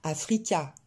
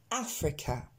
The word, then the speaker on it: Africa: Africa, vous allez noter que le deuxième A ne se prononce pas du tout A. C'est pas Africa, c'est Africa.